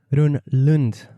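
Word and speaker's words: Rönnlund: Anna Rosling Run-Lund. Welcome to the Zero to Travel podcast, my friend. Thank you. You're the first one I've met who actually pronounced my name in a Swedish way, right?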